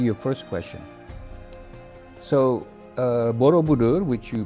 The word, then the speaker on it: Borobudur: So, uh Borobudur, which you pronounced very well, uh not only that you